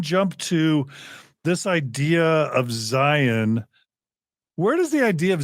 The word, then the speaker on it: Zion: People outside of Mormonism, by the way, pronounce it Zion, but in the church, I've always heard it pronounced Zion. And I don't know if you even have come into that, but it's always weird to hear someone say Zion, but that's pretty much everyone but a Mormon, unless I pronounce it wrong.